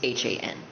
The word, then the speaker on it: Han: spelled in Korean is H-A-N, or yes, it's H-A-N, kind of like Han from Stray Kids.